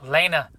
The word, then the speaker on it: Lena: into this whole like Lina the plug thing and that's what I kind of see Lina doing there's there's inch Elena I keep saying it wrong it's Lena the plug she's kind of marketing